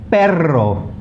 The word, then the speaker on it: perro: Okay, to pronounce a double R, you really have to roll your tongue. Okay, so like r, carro, perro, cerro, zorro, and tarro.